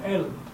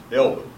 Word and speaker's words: Elbe: No, Elbe. Elbe.